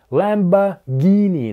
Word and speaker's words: Lamborghini: Похоже, в русском языке это можно сказать и так, и так, а в английском — только один вариант: Lamborghini. Там слышен звук "г" .